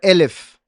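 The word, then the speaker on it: אלף: La Aleph se puede pronunciar Elef, que es 1000.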